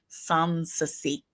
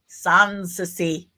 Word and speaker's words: Sansi: That's how you pronounce that. Sansi. Say it with me now. Sansi.